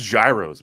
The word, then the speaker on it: gyros: Like you don't like gyros? You never had a gyro before? It's disgusting. We're good. It's pronounced gyros, my man.